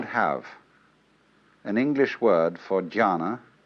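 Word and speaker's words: jhāna: which in turn is the Chinese way of pronouncing the Sanskrit word jhana.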